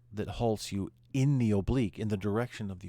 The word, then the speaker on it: oblique: Marta March all right oblique another rancor says Oh Blake it's actually pronounced the word is pronounced oblique but the Marine Corps wants you to call it Oh Blake if if you marched an oblique well it's